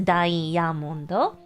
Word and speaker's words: ダイヤモンド: How would you pronounce diamond in Japanese? You have any idea? Yes! Diamondo.